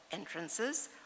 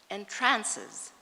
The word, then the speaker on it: entrances: That word can be pronounced either as entrances or as entrances, and thus can mean both openings and amazes.